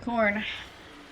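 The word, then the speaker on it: Khorne: why is corn called corn it's spelled k h o r n e just so you know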